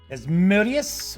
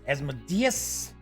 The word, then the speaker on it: Asmodeus: So we've got Asmodeus, or Asmodeus, depending on how you'd like to pronounce the Prince of Darkness.